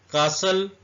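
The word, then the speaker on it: castle: मतलब होता है कसाई कासल इसमें टी साइलेंट है ई भी साइलेंट है लेकिन क्योंकि हम टी साइलेंट पढ़ रहे इसलिए टी को मैंने रेड किया ई को हाईलाइट किया ये दोनों वर्ड इसमें साइलेंट है कासल कासल का मतलब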